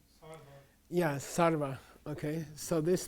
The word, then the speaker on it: sarva: So, this B, I'll give you a clue, is a V, and we did one today in yoga class. Sarva.